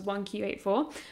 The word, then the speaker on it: 1Q84: Japanese book, which was 1Q84, which I always want to call iQ84, but the title makes way more sense in Japanese because the way you pronounce 9 is also like "Q", I think.